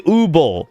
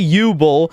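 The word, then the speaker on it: Übel: No, she has umlauts. They don't know how to pronounce it. Japanese don't know how to pronounce German. It has umlauts over the U. It should be Ubel. They say Ubel because they can't fucking speak.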